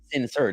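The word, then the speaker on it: Sin'Sir: And then one's name is spelled Sincere. But it's S-I-N apostrophe S-I-R. But they're not sincere. They're calling it sincere.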